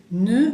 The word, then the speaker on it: ne: Acuérdense que la E francesa es E, bien redonda la boca, E, ne, más el verbo, bien conjugado por supuesto, más el jamais.